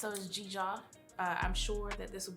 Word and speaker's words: Dzidzor: It's Dzidzor I'm sure that this will be written out because it's not phonetically spelled.